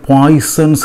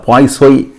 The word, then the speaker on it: Poisson: நம்ம பொதுவாக இந்த பேரை பாய்சன்ஸ் ரேஷியோன்னு நம்ம சொல்கிறோம், ரைட்? ஆக்சுவலாக இது ஒரு ஃப்ரெஞ்சு பேர், ஃப்ரெஞ்சு சயின்டிஸ்ட்டு. அதனால என்ன சொல்கிறாங்க, பாய்சோய் அப்படின்னு என்ன செய்கிறாங்க, தமிழில் இல்லை, அப்படி தான் ஃப்ரான்ஸில் என்ன செய்கிறாங்க, உச்சரிக்கிறாங்க.